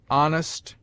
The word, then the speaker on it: honest: It seldom begins any but the first syllable, in which it is always sounded with a full breath, except in heir, herb, ostler, honor, humble, honest, humor, and their derivatives.